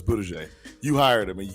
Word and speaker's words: Buttigieg: Talking about booty juice on TV. Come on, you hired the guy for the job. It's Buttigieg.